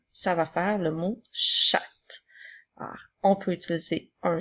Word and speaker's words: chat: La lettre T est une lettre muette, puisqu'il n'y a pas de E pour faire chanter la lettre.